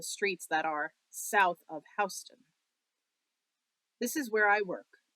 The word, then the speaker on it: Houston: But if you're in downtown New York City, you ain't talking about the street called Houston. It's pronounced Houston. Everybody knows that.